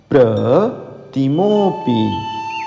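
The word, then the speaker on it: प्रतिमोऽपि: बार पढ़ लीजिएगा गुरुप अब पढ़िए प्र तिमो पी म का ओ का खींचिए तिमो पी फिर बुद्ध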